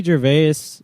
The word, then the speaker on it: Gervais: whole i guess so ricky gervais he was on uh i think the tonight show i think the s is silent it might the guy